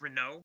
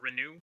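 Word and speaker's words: Renoux: however you pronounce it granted it's kind of french so maybe the french version okay in the audiobooks uh it's it is pronounced renault or renew um and it was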